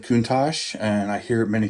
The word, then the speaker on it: Countach: have a whole bunch of these Fujimi Lamborghini Countach, or Countach, however you want to say it. I've always said Countach, and I hear it many times, but I've heard that the correct pronunciation is actually Countach.